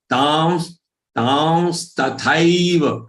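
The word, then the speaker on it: तांस्तथैव: So, on ta, this anuswar is there, which should be pronounced as anunasik va or nasal va, as if there is a half va before the next half sa.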